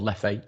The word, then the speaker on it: Leffe: Is it Lef? It's Lef because although it's a Belgian beer, it's the French-speaking part of Belgium that it's made in, and it's Lef.